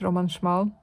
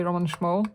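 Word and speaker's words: Roman Szmal: Roman schal it's pronounced Roman schmal I know a lot of people say Roman schal but it's schal it's a Polish name and Rosa really beautiful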